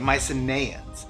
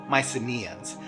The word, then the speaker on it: Mycenaeans: and the Minoans yeah so I mispronounced Mycenaeans all throughout this video when I was filming I kept saying Mycenaeans but in post-production I realized the rest of the world apparently says Mycenaeans I don't know if